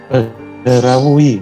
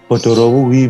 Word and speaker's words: Badarawuhi: Oke, berbicara tentang tokoh utama film ini, Badarawuhi, bagaimana sebenarnya cara pengucapannya? Bagaimana cara pengucapan yang benar dalam bahasa Jawa, Om Hau? Badarawuhi, Mas. Badarawuhi. Badarawuhi, kan? Wihi. Ya. Atau, jika Anda menggunakan aksen Jawa Barat. Bodorawuhi, Mas.